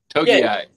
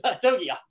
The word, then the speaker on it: Togiai: Togiai. They can't even pronounce in the press box. Togiai.